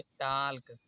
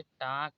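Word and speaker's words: talk: इसे पढ़ रहे होंगे टाल्क। अब यहाँ पर टाल्क नहीं पढ़ा जाएगा, इसे टाक पढ़ा जाएगा।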